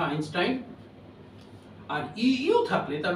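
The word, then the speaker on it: Einstein: বিখ্যাত ব্যক্তির নামের জন্য একটি হচ্ছে ই আই থাকলে তার উচ্চারণ হয় আই যথা আইনস্টাইন আর ইও থাকলে তার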